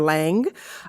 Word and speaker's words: Lange: uh other than celebrating mother long la or Lang um I you can pronounce it as both um in part because